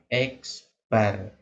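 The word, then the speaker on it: x̄: simbolnya adalah x kemudian di atasnya ada garis ini membacanya X Bar jadi garis ini namanya bar ya disebut dengan Bar nah kemudian ee Bagaimana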